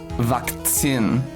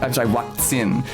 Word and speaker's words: Vakzin: And the German word is something like Vakzin. Vakzin. Is there a C? Z-I-N? The Z is pronounced like a TS in German, tse, and the V is pronounced like a W.